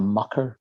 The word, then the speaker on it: Mucker: imagination walking in a mucker fog i didn't mispronounce the word mocker it's a town land from which he was it was born in the town land near the town of